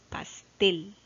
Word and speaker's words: pastel: Ya, vamos a ver, en el primer ejemplo dice pastel. Pastel. Ya, aquí se ha colocado una campanita que me está indicando que esta es la sílaba que tiene la mayor fuerza de voz.